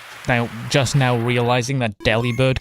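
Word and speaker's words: Delibird: People now just now realizing that deli bird can be pronounced delivered as in like delivered.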